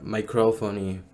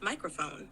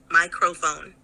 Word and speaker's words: microphone: Do you pronounce it microphone or microphony? It's pronounced microphone with the emphasis on the first syllable, microphone.